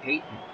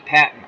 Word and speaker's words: Patton: The lone back is Ricky Payton. No, Ricky Patton. I was saying it right.